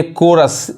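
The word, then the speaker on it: chorus: यहां देखिए कोरस, एच नहीं पढ़ाएगा।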